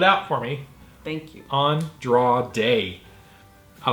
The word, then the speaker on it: Andrade: And I was like, I don't know how to pronounce that. And she spelled it out for me. Thank you. Andrade.